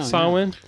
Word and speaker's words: Samhain: Is that how you pronounce Samhain, that? yeah. Samhain.